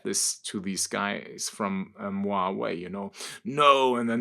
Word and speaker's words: Huawei: And you know, and this was a funny thing because I did not know how to pronounce them. And I'm a German and I said, Huawei.